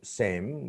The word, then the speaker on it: same: So same, but in some cases, usually the people from Chapainababganj of Bangladesh, they can, mostly they pronounce shar. They can't pronounce sar. So they pronounce show, same, shame, but there is a different word, shame.